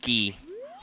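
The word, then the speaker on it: Guay: That's a Gwei, or a Ghee. I gotta remember that's pronounced Ghee. Like Indian butter.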